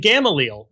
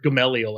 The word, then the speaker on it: Gamaliel: Go back to the book of Acts, and Gamaliel makes this challenge. And he points out that there are all of these people, or Gamaliel, I guess is how people pronounce it.